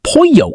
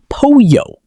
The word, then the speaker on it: pollo: Many learners pronounce pollo incorrectly. The double L in Spanish often sounds like Y. So pollo sounds like pollo.